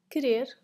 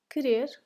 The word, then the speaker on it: querer: Querer, querer, or to want. And in this case, the U is silent.